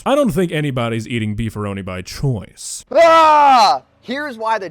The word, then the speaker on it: Beefaroni: weighing the possibility here that there is a human out there on planet Earth who thinks that a Beefaroni is genuinely pronounced before any I think this might